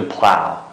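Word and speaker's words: plough: Pulling the plow. Okay, pulling the entire mark. Nimene sokane. Soka. Yaraq durduğan şunun neyimiz? Plow deyimiz. Plow. Okay, plow. Mao GH qana qılmaydı bolar, telaffuz qılmaydı.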